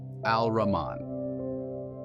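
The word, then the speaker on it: الرحمن: Duality the apparent and the hidden Mercy now pronounced in Arabic al- Raman everything that is born in our time and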